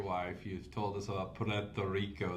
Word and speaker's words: Puerto Rico: You've told us about Pto Rico. The way you rolled that R at the beginning there. That's the official way to pronounce it. Puerto Rico.